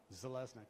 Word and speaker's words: Zelnik: go oh so this if you're wondering how to say my last name this is how zelnik exactly how it's spelled and one more slide